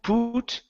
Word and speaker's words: put: Instead of poo, put, put.